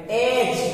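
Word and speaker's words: edge: ये देखिए, to realise महसूस करना, एट वंस फौरन, ऑफेंस जुर्म गुनाह, रैग्स चिथड़े फटे पुराने कपड़े, एज डी साइलेंट रहेगा, एज कनारा करार, स्टार्वेशन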